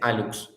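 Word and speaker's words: hallux: El alux se le llama al primer dedo, al dedo gordo del pie se le llama alux. Y se escribe con hlux, pero se dice alux.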